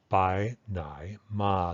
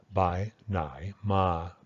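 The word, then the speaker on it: ไปไหนมา: be translated any of those ways so the pronunciation is something like by Nai ma this is the unreduced pronunciation here's a complex tone by Nai ma bye ma by Ma okay but what you'll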